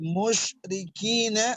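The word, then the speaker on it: مشركين: Lalu yang perlu diperhatikan lagi bagaimana pengucapan huruf shin. Wal musyrikina, mush pakai shin, mush ya, jelas sekali perbedaannya antara shin, sin dan juga tha ya, apalagi sod yaitu berbeda sekali.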